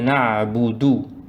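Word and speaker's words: نعبد: Iyyaka na'budu.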